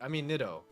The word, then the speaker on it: Nidoking: What do you say, Nidoking and Nidoqueen? That's not how you say it. Nidoking and Nidoqueen. Or Nido.